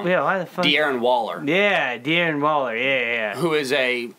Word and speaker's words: Darren Waller: think you got him you've got uh uh daryl walker or oh uh um okay now that you said it wrong now i'm gonna say it wrong yeah aaron waller yeah darren waller yeah yeah who is a top josh two